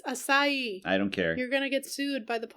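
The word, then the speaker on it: açaí: There was literally a pronunciation key on the last page and you said Akai. Whatever. It's Asai.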